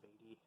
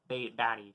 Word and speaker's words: Batty: who goes resurrected i'm pretty sure it's roy beatty yeah i'm pretty sure i might be getting names confused here i'm pretty sure yeah batty sorry roy i'm batty sorry roy batty or you say his